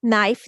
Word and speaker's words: knife: KN together, sound. Knock, knife, knee, knit, night. I have also given the sound dots so they can read the sound.